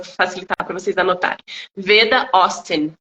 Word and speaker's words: Austin: é só para facilitar para vocês anotarem Veda ostin Austin a u s t i n tá Então